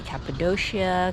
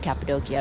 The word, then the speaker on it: Cappadocia: It used to be Capidoshia Capidokia, but yeah, now it's pronounced Capidokia apparently.